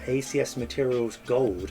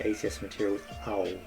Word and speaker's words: ACS Materials Au: acs materials gold so gold here obviously refers to the element is also a play on words uh because this is